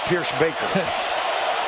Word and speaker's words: Pierschbacher: did he say, fellas, it's pronounced Pierschbacher.